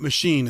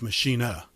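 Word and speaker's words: Maschine: So this is called the, it's German, so it's not machine, it's machina. Machina.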